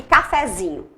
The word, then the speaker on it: cafezinho: Agora, se eu colocar um sufixo, esse morfema em café, cafezinho, agora a sílaba tônica mudou. Mudou para cafezinho, para o zi.